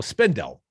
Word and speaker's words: Spindell: know bob spendel's name you know spindle rhymes with lindell like my pillow guy but spendel also at